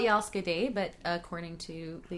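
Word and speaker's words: jag älskar: It's spelled Jalske day, but according to the internet, you don't pronounce the D, Jalske.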